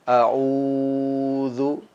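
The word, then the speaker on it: أَعُوذُ: Seperti pada lafaz a'u, ini panjangnya adalah 2 harokat. Maka jangan sampai kita membacanya lebih daripada 2 harokat. A'udzu.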